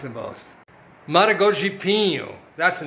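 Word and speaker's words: Maragogipe: them at the source in a town called Maragipo, I can't barely pronounce it, Maragipo, would have been half that, but still, $15 for the two of them, quite reasonable, I think. And I like them both. Maragogipo, that's the name of the town.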